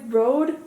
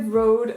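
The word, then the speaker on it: Røde: It's from, I think you pronounce it like Rode, but to me as a Dane, it literally says red in plural, so well. So I don't, and yes, I know that sounds like I'm throwing up, but that's an actual word in Danish. However, I think it's pronounced like Rode.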